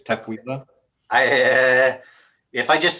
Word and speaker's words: Tukwila: Not Tukwila, it's Tukwila.